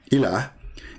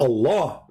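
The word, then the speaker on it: إله: But al-ilah, al-ilah, ilah, is simply E-L, and there is little H at the end, like a sound of a music. Ilah. Still, it's ilah. It's not Allah.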